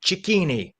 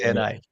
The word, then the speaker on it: Cicchini: And I appreciate the fact that you pronounce your name the way it's pronounced in Italy. Cicchini. Thank you so much. Yes. That is the way it's pronounced. No fun believing it. Cicchini.